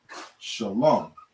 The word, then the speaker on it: shalom: mob you understand and you would simply say shalom okay shalom shalom is how you say that word without vowel points you